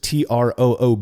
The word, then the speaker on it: trub: And so I've just always tried to pronounce it like maybe I would think that it'd be pronounced in Germany.